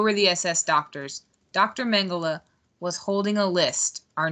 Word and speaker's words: Mengele: Mengele.